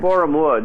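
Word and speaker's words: Borehamwood: Talk to us about the MGM Studios, if I'm pronouncing it right. Was it Boreham Wood? Is that correct? Boreham Wood, yeah.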